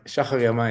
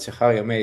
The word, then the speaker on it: Shahar Yemini: Shahar Yemini is the Hebrew way of saying it, but Shahar Yemini is very close.